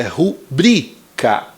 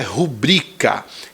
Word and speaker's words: rubrica: mas não é porque a sílaba tônica é bri então é rubrica não rubrica O correto é rubrica então a letra está